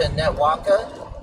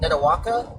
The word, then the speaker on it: Netawaka: So, we're coming up into Netwaka. Netawaka, I believe is how it's pronounced.